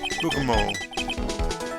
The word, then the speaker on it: bergamot: Oil of bergamot. Bergamot? I'm pretty sure the T is silent here.